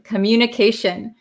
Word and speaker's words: communication: the pronunciation of communication communication t-i-o-n at the end of a word becomes shin shin it sounds like an s-h-i-n s-h-i-n-shin okay uh jewel asked uh